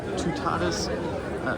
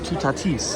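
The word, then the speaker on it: Toutatis: Of course, I'm going to head over to Tutatus. Actually, it's pronounced Tutatis apparently cuz the people in the uh guest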